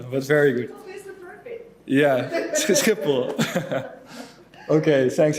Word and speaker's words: Schiphol: So it's Gelens, in English Gelens, and it's Schiphol, but it's very difficult to pronounce in English, but very good. Yeah, Schiphol.